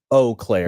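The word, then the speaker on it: Eau Claire: watching this live stream will say o Clair really yeah because of the well that's the proper French pronunciation but but it's like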